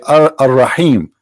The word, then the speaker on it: Ar-Rahim: They say Ar-Rahim because this is how it's pronounced, but the fact it is Al-Rahim, Al-Rahman, Al-Aziz, Al-Muhaymin, etc.